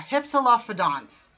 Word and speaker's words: Hypsilophodont: Yeah, Hypsilophodonts is how you pronounce.